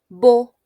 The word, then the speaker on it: beau: Beau, beau. Esta EAU suena a O como agua, ¿verdad?